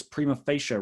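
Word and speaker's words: prima facie: one distinction a second distinction is absolute versus primo facial rights that's how you pronounce that second word it's latin it means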